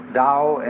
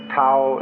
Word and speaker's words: Tao: called the dao tao pronounced dao in the mandarin dialect tao in the shanghai dialect toe in the cantonese dialect take your choice dao